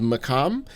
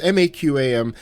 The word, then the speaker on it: maqam: The scales for a lot of Middle Eastern and Arabic music is called makam. And I I'm probably mispronouncing that. Maybe that Q is a little bit harder, but it's maqam.